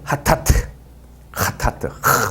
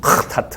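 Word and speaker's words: חטאת: 불법, 범죄, 위반 등을 뜻하는 그런 용어들인데 1번이 하타트 이렇게 강하게 침 뱉듯이 하타트 이렇게 발음하면 됩니다.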